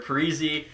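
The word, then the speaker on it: Parise: prize calls it quits or parizee freezy sounds so weird to me i don't care that's the right pronunciation i feel like frieza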